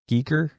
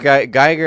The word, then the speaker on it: Giger: Well, I think Geiger actually... I'm just going to say Geiger because it sounds less weird than Giger, but...